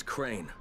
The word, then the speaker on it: Crane: No, my name's Crane. Crane? Crane rhymes with train and brain and sane and grain and rain and pain and...